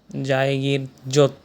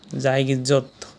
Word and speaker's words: জায়গীর জোত: সর্বউত্তরের union হচ্ছে বাংলাবান্দা এবং সর্বউত্তের গ্রাম জায়গীর জোত। জায়গির জোত। এখানে উচ্চারণটা হচ্ছে জায়গীর জোত।